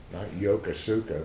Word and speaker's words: Yokosuka: used it in 1940 something it's yoku Scott Yokosuka but that's the way it's pronounced can you move hello Poston speaking of